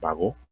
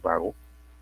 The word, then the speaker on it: Bagot: Lleva tilde, no ha salido la tilde aquí, pero es Bagot, no es vago, no Bagot.